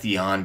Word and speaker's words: Atheon: and I know know some people call aeon aeon because that is how he is actually pronounced but I'm not that technical all right I've always called him Aon so I'm going to continue to call him